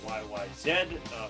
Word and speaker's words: YYZ: YYZ is actually pronounced YYZ for Canadian and British way of pronouncing Z.